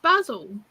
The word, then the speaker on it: basil: But there's no Z in it, and you pronounce it with a Z. There's an S in it. Don't? Basil. Basil. Z. And? That's a Z, it's not like an S.